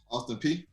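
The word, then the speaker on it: Austin Peay: Austin Prairie? Is that how you say it? Austin P.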